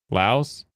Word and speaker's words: Laos: you pronounce the s in English you pronounce the s people in the laosian language do not they just call it